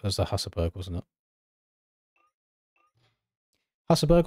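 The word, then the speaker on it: Husaberg: Hassleberg or Hustberg? I've definitely heard people say both. It's Hussberg. The actual pronunciation.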